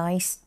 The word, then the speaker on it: nice: ดู ค่ะ have a nice Trip เมื่อ กี้ นัก เรียน ออก เสียง Nice ให้ ครู แบบ นี้ หรือ เปล่า คะ ไม่ ใช่ Night นะ ไม่ งั้น มัน จะ